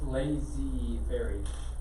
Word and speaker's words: laissez-faire: So lazy fairy.